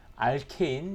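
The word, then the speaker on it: alkane: 하고 스스로 많이 이루어진 사람들이지 타라 우스워서 중에서도 r 케인 예전에는 알카 이라고 불렀어요 독일 집으로 바로 다른말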